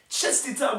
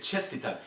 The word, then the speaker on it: Čestitam: Čestitam, momsi. Is that how you say it? Čestitam. That's a tough one for me to say. Čestitam, I think is how you say it.